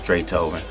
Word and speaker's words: Drathoven: That's DRATHOVEN. Pronounced like Beethoven, but it's Dre Tobin.